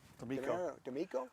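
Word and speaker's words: DeMeco: Uh the Texans uh with uh Demarco Deo, how do you say that name? Demo.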